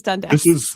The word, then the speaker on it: Dundas: Well, I think they've changed it now, but like, yes, it is Dundas.